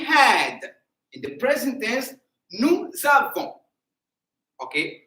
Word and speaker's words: nous avons: In the present tense, nous avons. Okay, so there is no I in the pronunciation.